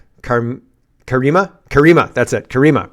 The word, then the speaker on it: Karima: Kareema, right? It's It's not Karma. It's Kareema, right?